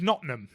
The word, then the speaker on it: Nottingham: but it's bitth yeah like like Nottingham is notam yeah yeah or southw